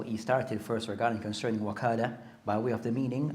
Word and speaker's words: wakala: So the word can be pronounced as wakala bit fata over the waw, or wikala. So both are a permissible way of pronouncing the word.